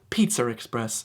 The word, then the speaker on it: Pizza Express: In England, it's Pizza Express. That's right, just throw that little R in there, and now you're speaking correctly.